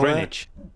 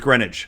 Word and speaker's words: Greenwich: The big clipper ship and all Greenwich. that. Or it's Greenwich. Okay. You said it as it should be, as it's spelled.